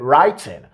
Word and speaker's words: writing: He didn't use the glottal stop to pronounce this word. He said writing. So he pronounced the T in that word.